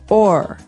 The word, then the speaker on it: o'er: So this is a way to make the word over shorter, because over, you can hear it, 2 syllables, over. Mm-hmm. But sometimes we only want one, so we say or.